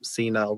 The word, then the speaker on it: senile: So you pronounce senility with an I instead of the E, but senile with the E sound.